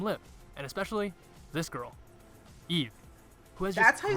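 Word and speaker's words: Yves: Olivia Hae, Kim Lip, and especially this girl, Eve, who has That's just how you great say her name?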